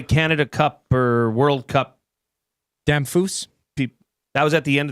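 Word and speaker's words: Damphousse: Vinny Damphus, who I liked as a player, and it was always fun to say his name Damphouse to mispronounce it.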